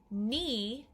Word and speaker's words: knee: silent what here comes another silent letter k n knee um your turn k n yeah we just hear the m sound from the letter n it's almost like the k isn't even there now this is an